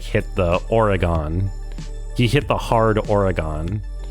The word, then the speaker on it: Oregon: But I was listening to Arvid today, and he, like, hit the Oregon.